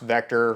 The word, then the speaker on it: VKTR: for a while but Vector is one that is new to me um it's it's pronounced Vector from what I hear the people that work there pronouncing it but it's vkt they